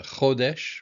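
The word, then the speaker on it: חודש: Uh chodesh, rosh chodesh, the beginning of the month. Chodesh. Emphasis on the first syllable.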